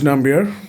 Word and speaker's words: Nambiar: I've never actually pronounced your surname. Is it Nambiar correct? It is Nambiar, Nambiar.